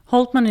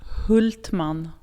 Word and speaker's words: Hultman: Hultman is the English pronunciation. In Swedish, it's Hultman.